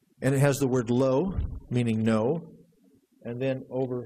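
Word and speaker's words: לו: change one letter and it still had the same pronunciation here's what the printed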